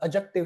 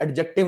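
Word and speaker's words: adjective: Verb से, noun या pronoun से या एडजेक्टिव से? डी साइलेंट होता है बेटा इसमें। तो एडजेक्टिव नहीं एडजेक्टिव।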